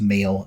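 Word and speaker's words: Maol: they band called male which is m h a o l with a with the H and brackets but I think it's pronounced male and they're quite they've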